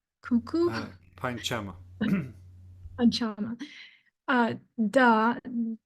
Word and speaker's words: Panchama: Pa, Pankama, cuckoo. Panchama. Panchama. Da, Devata, donkey. Dhaivata. Daivata. And Nisada, elephant. It also can be pronounced Nikada, but again, Ka is not pronounced